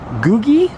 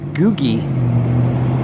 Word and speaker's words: googie: actually a play on a certain design called googie i believe it's pronounced g-o-o-g-i-e which is kind of a like